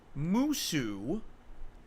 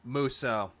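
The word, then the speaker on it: Musou: the musu Zelda games does anyone know muso not musu what musu muso Phil you do not know how to pronounce words it's muso not musu musu sounds like a shitty dish you would make Mushu m-o-s-o-u yeah that's muso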